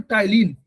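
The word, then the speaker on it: ptyalin: Saliva में होता है, उस एंजाइम का नाम है टाइलिन, पी से शुरू होता है, पी साइलेंट है, PTYLINE, टाइलिन। ये टाइलिन जो है उसको ट्रांसफर कर देता है माल्टोज में।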